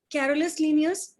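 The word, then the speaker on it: Carolus Linnaeus: Next इनका नाम बहुत फेमस है, कैरोलस लीनियस, और कहीं कहीं इसको प्रोनाउंस करते हैं कार्ल्स लीनियस।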